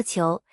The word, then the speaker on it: 仇: 筹作姓氏时读作裘，在历史上名家辈出，如明代著名画家裘英。